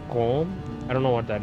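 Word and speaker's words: COAM: It looks like euro, but it's pronounced Quam.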